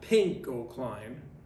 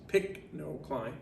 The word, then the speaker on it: pycnocline: thermal klein halocline and pycnocline not pink gold klein like the color it's pick no climb okay just like it's spelled um are all